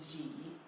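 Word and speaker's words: 几: Is pronounced G Mm-hmm. because it looks like pair of jeans.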